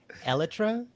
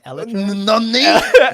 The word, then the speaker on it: Elytra: It's Elytra. It's pronounced Elytra.